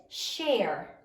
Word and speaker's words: share: Sound it out. Sh. A. R. Silent final E. Share.